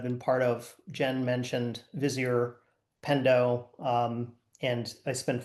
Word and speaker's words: Vizier: um who is the former CMO of both Vizier and Pendo. Uh Jake, did I pronounce Vizier correctly?